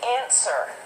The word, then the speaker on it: answer: like to point out answer there's one letter that's silent what is the silent letter w right so when we say it we say answer what's the next one